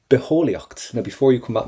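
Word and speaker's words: bitheolaíocht: But the main thing you know now is never to pronounce that T. Beholiocht for biology.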